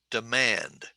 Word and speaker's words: demand: first syllable college okay now listen to me say the word demand how many syllables two syllables right demand demand where is the emphasis on the first or second syllable it's on the second syllable so i'll go d manned demand okay and if i